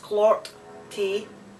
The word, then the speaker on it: clorty: it let me know it says clorty pronounced clark t and it means filthy